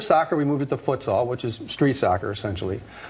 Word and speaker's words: futsal: And futsal, for those who are like hearing this and saying, I think they're mispronouncing football. No, we're not. It's futsal. It's futsal.